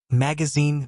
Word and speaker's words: magazine: Magazine. Magazine ends with the sound rhymes with machine.